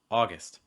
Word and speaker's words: August: And the first syllable, which you're stressing, is going to be your aw sound, like in law or saw. Mouth wide, back your tongue a little bit high. And again, placement low and relaxed. Aw. August.